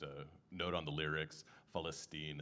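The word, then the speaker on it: فلسطين: And uh just a note on the lyrics, Falstine is how you say Palestine in Arabic.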